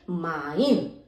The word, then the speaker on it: mein: MEIN यानी माइन, ZEIT जाइट, KEIN Kine. तो इसका उच्चारण EI का उच्चारण होता है आई।